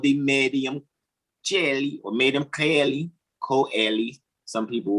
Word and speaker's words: coeli: what's called the medium coeli or medium coeli, some people will say. Some would like to argue that it's just Celli, because that's how it's pronounced in Italian.